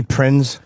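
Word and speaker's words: Prinze: I can't put my finger on it Freddy Prince Freddy Prince Freddy Prince yeah is that how you say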